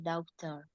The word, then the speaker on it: daughter: Put on uniform for my daughter. Daughter. Bukan daughter, tapi daughter. Daughter. Bukan U-nya nggak dibaca.